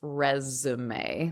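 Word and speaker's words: résumé: And it looks like the word resume, but it's actually pronounced resume, like the French word resume.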